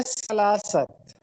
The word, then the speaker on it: سلاست: ہمارا آخری کویسچن ہے کہ سلاست کے معنی کیا ہیں. یہ اس کا املا غلط لکھا ہوا ہے، ٹائپنگ مسٹیک ہے. درست تلفظ ہے سلاست.